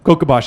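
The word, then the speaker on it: Kocabaş: new specimen from Turkey kabash I spelled it in the sort of angiz version it should uh be spelled with an S with a what do you call that thing on the bottom of it anyway kabash is how you say it so we'll we'll leave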